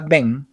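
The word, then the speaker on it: בן: En la palabra Ben, que significa hijo, la letra Bet también está al inicio y se pronuncia como una B, Bem.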